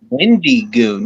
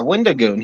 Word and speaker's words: Wendigoon: Was you were saying Wendy Goon? Yeah, Wendigoon. He's awesome, dude. Go look him up. Wendigoon rolls. Well, it's pronounced Wendy Goon.